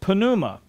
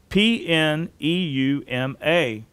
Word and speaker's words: pneuma: The Greek word for Spirit is pneuma, P-N-E-U-M-A, pneuma. It's Strong's 4151, and it means spirit or breath or wind. Many English words would start with the letters P-N, where the P is silent, such as pneumatic, pneumonia,